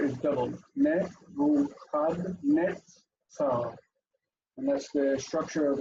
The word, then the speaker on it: Nebuchadnezzar: Nebuchadnezzar. Notice that the dagesh in the tzadi means that the letter is doubled. Nebuchadnezzar.